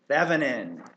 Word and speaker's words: Thevenin: The word I'm looking for starts with a T and rhymes with excedrin. Thevenin.